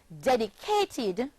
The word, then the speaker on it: dedicated: The verb dedicate, dedicate, becomes the past tense verb dedicate, and is pronounced dedicated, forming four syllables, dedicated, dedicated.